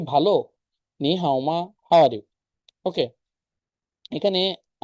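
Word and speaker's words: 你好: যে হ্যালো কিভাবে বলতেছে চাইনিজরা হ্যালো চাইনিজ কি নি হাও যখন দুইটা থার্ড টুন থাকে তখন প্রথমটা সেকেন্ড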